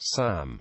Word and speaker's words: SAM: Anti-aircraft missiles are variously called surface-to-air missile, abbreviated and pronounced SAM, and surface-to-air guided weapon.